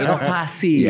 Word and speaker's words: inovasi: harus melakukan inovasi inov Oh iya inovasi I kita v kita diucapkannya kayak F Ah Ivan lanin Golf